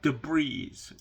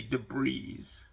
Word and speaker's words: debris: Like debris. Mikey used to say debris for debris, you know. Yeah, we know it's spelled like that, but the S is silent, guys.